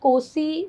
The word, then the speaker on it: Nkosi: Yes, we call it Kosi, Nkosi. It's African English, very difficult to pronounce.